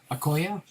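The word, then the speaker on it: Okoye: like you're having a little trouble pronouncing christian okoyo the nigerian nightmare for the chiefs pronounced akoya thanks there bakery koya all right well we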